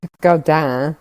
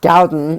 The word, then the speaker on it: Gaudin: a woman named Marguerite Gaudin, if you pronounce it the way that you would if she's French, or Gaudin, if you pronounce it the way that Americans probably would.